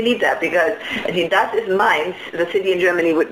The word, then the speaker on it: Mainz: Mainz is also a city in Germany. Is a city in Germany. It's spelled differently, but it sounds the same.